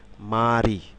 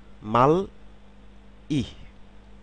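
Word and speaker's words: 말이: এখানে একটু খেয়াল করুন আমি যদি সিলেবাল অনুসারে একটু উচ্চারণ করি তাহলে কি হবে মাল ইহ মাল ই বাচ্চিমের নিয়ম অনুসারে এই রিউল যখন এন্ডিং কনসোনেন্ট হিসেবে থাকবে তখন তার উচ্চারণ ল হবে কিন্তু খেয়াল করুন এখানে কিন্তু আমি উচ্চারণ করছি মারি মারি কারণ এই রিয়ল রিয়ল প্লাস এই ইত্রিত হয়ে কি হবে নিশ্চয়ই রি এরকম হবে তাহলে কি হবে মা রি মা রি এরপরে যেটি রয়েছে সেটি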